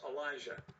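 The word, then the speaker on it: Alijah: vera tucker from usc i believe that's how he pronounces it elijah oh elijah okay yeah it's not the way you and i normally would spell it but it's elijah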